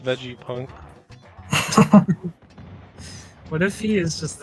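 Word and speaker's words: Vegapunk: is this guy this is on fire dr vega punk made this guy it's pronounced veggie punk what if he is just like a vegetable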